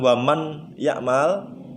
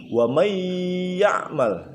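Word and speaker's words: وَمَن يَعْمَلْ: Bukan waman ya'mal, tapi sudah berubah menjadi wa may ya'mal ya.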